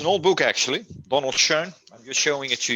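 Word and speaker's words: Schön: He's very how do you pronounce his last name? Donald what's Shaw? Schoen.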